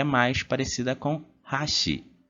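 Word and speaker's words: 箸: é mais parecida com hashi hashi a gente alteia a primeira sílaba depois a gente tem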